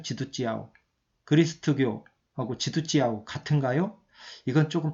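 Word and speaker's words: 基督教: 우리식으로 하면은 기독교인데 중국식으로 하면은 지두찌아오거든요. 지두찌아오.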